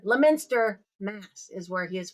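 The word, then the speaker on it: Leominster: It is um Leo Lminster Lminster Mass is where he is from. I got schooled on how to pronounce it. So Lminster Mass.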